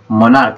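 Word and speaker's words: monarch: কিন্তু exception is given here, রিস্টমাচ হয় মানে ch, এটা যে উচ্চারণ কে হয়, হ্যাঁ উচ্চারণ কে হয়, মনার্ক, এটাও ch আছে কিন্তু উচ্চারণ হবে কে, মনার্ক।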